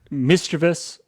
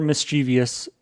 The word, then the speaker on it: mischievous: Mischievous or mischievous in terms of pronunciation are both correct. This is the only correct spelling, though. But, but because it is often pronounced as mischievous, it is often misspelled with an extra I.